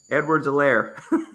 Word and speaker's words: Edwards-Helaire: Edwards-Helaire, pronounce that name for me, Dennis. Edwards-Helaire.